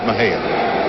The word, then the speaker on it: Mexia: Raymond Rhodes, a native of Mexia, Texas, spelled M-E-X-I-A. Wow. Sometimes mispronounced as Mexia.